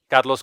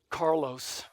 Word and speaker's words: Carlos: hi what's your name carlos hi my name's carlos said if i say it like that i've already distanced you so i'll say carlos hi i'm carlos carlos